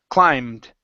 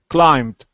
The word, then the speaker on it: climbed: to this word here in this word the B is silent so instead of saying climbed it's climb climbed climbed okay very nice uh